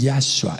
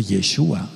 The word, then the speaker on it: Yahshua: Menciona por qué es Yahweh y por qué es Yahshua. Él vino en el nombre de su Abba, él es el Abba. No puede ser Yeshua.